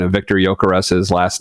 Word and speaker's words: Gyökeres: It won't take long here, but so it is pronounced with like a very, very soft G at the beginning and then like an S like snake at the end. So Gyökeres.